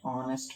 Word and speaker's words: honest: before the word an honest man an honorable leader in our so here h is silent and o this sound